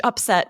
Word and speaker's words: upset: the feeling and then for this noun we emphasize that first syllable upset it was this